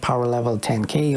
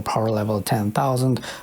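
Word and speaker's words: Powerlevel10k: level 10K number two it's pronounced power level 10K over power level 10 000 or p10k or P10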